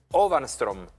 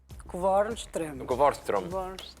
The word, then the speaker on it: Kvarnström: Yo espero pronunciarlo bien, porque está con nosotros Ovanström. Kvarnström. Bueno. No, respetémoslo, Kvarnström. Es una Q, perdón, no es una O, perdón, Kvarnström.